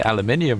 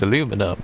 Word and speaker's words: aluminium: Um the way I would say aluminium wrong was aluminum because I was like aluminum cuz it's just a it's a fun way of saying it and then I found out later on that's how Americans say it.